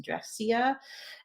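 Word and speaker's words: Drexciya: So this one particular album, I believe their name is pronounced Dressia, and that's the name of the underwater society in their minds.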